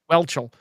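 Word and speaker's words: Whelchel: say her name I I don't believe it's wel wel um W yeah it's I welchel yes Joe from Facts of Life um was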